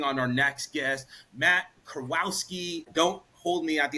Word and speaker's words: Kurowski: ahead and bring on our next guest Matt Kowski don't hold me at the altar if I mispronounced it but Matt my man welcome to